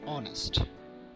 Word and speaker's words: honest: Do you have a ha sound in its pronunciation, like honest? No, we pronounce it as honest.